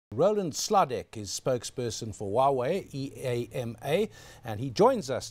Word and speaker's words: Huawei: in my consciousness because I pronounced it wrongly before I joined you there I said we way and it's Huawei and I've heard that